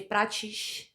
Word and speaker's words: Prates: Yeah, because in Rio, you'd say Prates. Like that's our accent.